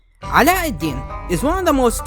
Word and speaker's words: Aladdin: I think it's more appropriate for me to use the accurate name pronunciations here, so excuse me for saying names in a way you're not used to. Ala-ad-Din is one of the